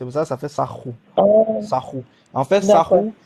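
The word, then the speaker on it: Sahu: Mais en fait, dans les langues, on le roule en fait. C'est pour ça que ça fait sarro.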